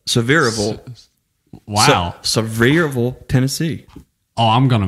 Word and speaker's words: Sevierville: You know, Sevierville. Sevierville. Sevierville. Wow. Sevierville, Tennessee.